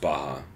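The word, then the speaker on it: Barra: up at but Gracie Baja Portland or something like that I see Mara yeah he said Baja yeah it's ours in their Brazilian yeah pronounced Baha oh yeah that confused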